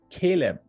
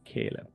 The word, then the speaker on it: Caleb: I'm pronouncing your name right how do you pronounce your name Caleb Caleb okay Caleb that's what you said right let's just collab